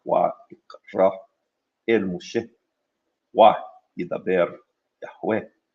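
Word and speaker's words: ויקרא: And the biblical Hebrew pronunciation would be something more like Wa ikra el Moshe, Wa yidaber Yahweh Elaw me'ohel mu'ed lemor, etc.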